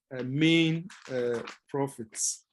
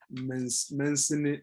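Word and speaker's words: mesne: So we used to call it the Mancini profits. But later on, we got to know that it was the main profit, and the S is the S is silent, as it were.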